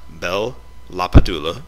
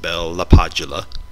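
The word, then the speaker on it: Bell–LaPadula: body of knowledge are bel la Pedulla or some people pronounce it bella Padula Biba Breuer Nash Clark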